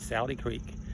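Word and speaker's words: Sauty Creek: a little differently, but it's called S-A-U-T-Y, but he said in Alabama they would pronounce that Saude Creek.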